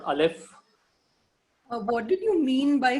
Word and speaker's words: Aleph: So remember and note it down that Aleph is a silent letter.